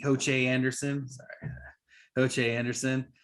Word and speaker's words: Ho Che: so a lot more to look for from ho chi ho che anderson sorry ho che anderson uh hmm oh